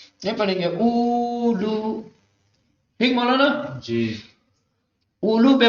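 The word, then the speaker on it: أولو: ایسے ہی، ٹھیک مولانا۔ یہ پہلا والا جو واو ہے الف کے بعد والا، یہ لکھا جاتا ہے لیکن تلفظ نہیں کیا جاتا، اولو پڑھا جاتا ہے، یہ پڑھیں گے اولو، ٹھیک مولانا جی۔ اولو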